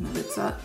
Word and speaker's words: Milica: So yeah, and I'm Serbian, so that's why it's pronounced Milica, but yeah, that's how it's pronounced. It's not Milica, it's not Melissa, it's not Milica.